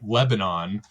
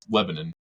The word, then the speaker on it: Lebanon: to go there, and it was Lebanon. But like you hear on the news, like Lebanon, on the global scale, but it's not. It's Lebanon, and that's how they say it.